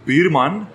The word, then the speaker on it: Buurman: voor ons luisteraars uit Nederland is buurman as in your neighbor.